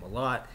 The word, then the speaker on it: Mellott: And what Tommy Malott, because I kept getting his name wrong for like 3 weeks, you know, not Tommy Mellott, it's Tommy Malott, you know, this dude has been playing lights out this playoffs.